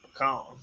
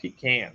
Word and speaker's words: pecan: Pecan. That's how we pronounce it in Texas, pecan. Some people call it pecan, but I call it pecan.